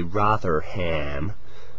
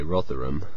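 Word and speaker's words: Rotherham: people like me say rotheram you know it's just towns often have these weird local pronunciations um there's nothing wrong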